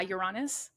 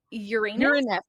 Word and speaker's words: Uranus: People say, what do they say? Uranus? Uranus. Uranus. I call it Uranus. That's not how my 8-year-old son calls it. Yeah. Everyone joked right away. I'm like, this is how I pronounce it.